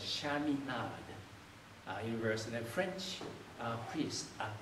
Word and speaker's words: Chaminade: It's actually in easier pronunciation, immediate reading by words, it's Chaminade University.